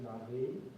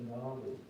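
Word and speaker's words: Na'vi: being, being turned into now it's pronounced Navi. I always thought it was Navi.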